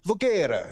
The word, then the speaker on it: Voguera: And I asked him, I was like, what's the proper way to pronounce this? And he was like, Voguera. And you got to use the hand to be properly Italian.